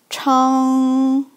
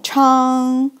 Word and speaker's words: 昌: So it pronounced like 昌. First tone, 昌.